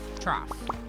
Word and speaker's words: trough: their water TR trough trough that's how you say it in that case you pronounce the G like an F makes perfect sense obviously